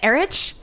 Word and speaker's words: Erich: phone and they say, hi, are you Erich? And I go, no, it's Eric.